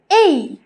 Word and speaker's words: A: সো ছোটবেলায় আমরা শিখেছি এ, যেটা ভুল প্রোনাউন্সিয়েশন, এর সঠিক প্রোনাউন্সিয়েশন হচ্ছে এই এই। সো এখন থেকে কিন্তু আমরা এ বলবো না, আমরা বলবো এই।